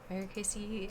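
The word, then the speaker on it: Ericaceae: plants in the family erica cia varicasia eriksia i'm just gonna look for pronunciation real quick or kc depending on apparently ugh i want something that era kc okay era casey um so margaret also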